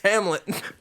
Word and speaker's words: Hamlet: They'd be like, "Oh, all right, Helmet," and I'd be like, "It's not. It's Hamlet."